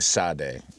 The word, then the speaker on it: Sade: There's grown-ass people from that generation that can't even pronounce their name. Sade, S-A-D-E. Are we accepting Sade?